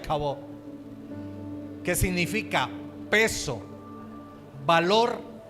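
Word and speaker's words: כבוד: En hebreo es kabod, se pronuncia kabod, que significa peso, valor y gloria.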